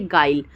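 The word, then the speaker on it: guile: चीज को अभी सीखेंगे यू के बाद में कोई वावेल आए तो यू साइलेंट हो जाता है जैसे गाइल देख रहे हैं जी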